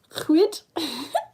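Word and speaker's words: Lhuyd: Edward Chwyd.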